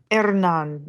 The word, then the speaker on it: Hernán: Hernán Cortés Hernán, yeah, if you can roll your R.